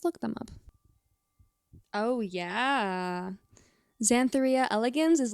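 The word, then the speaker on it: Xanthoria elegans: reso Karpin geographica and zan thoria elegans or elegans zanthor RIA elegans most likely is how to pronounce that one scientifically but you know honestly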